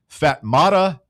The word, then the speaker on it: Fatmata: to love this one, Fatmata Fats Jana. Yep. You are not pronouncing that kid's name. I'm right. pronouncing it exactly correct. It's I'm actually even correct. reading from the pronunciation guide right now.